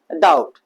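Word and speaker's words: doubt: Silent होता है। तो डाउट नहीं पढ़ते। हम क्या पढ़ते हैं? डाउट। क्या पढ़ते हैं भैया? डाउट।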